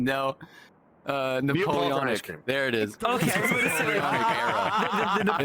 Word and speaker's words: Napoleonic: but Neopolitan, Neapolitan, no. Napoleonic.